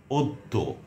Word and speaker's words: অদ্য: যেমন অদ্য, অন্য, অত্যন্ত, অত্যাচার, কন্যা, কল্যাণ। এটি কল্যাণও উচ্চারণ হয়।